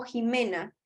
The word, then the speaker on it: Ximena: Ximena, dime si se pronuncia Ximena o Jimena. Por favor, para decir bien tu nombre. Jimena, está bien. Jimena, con J.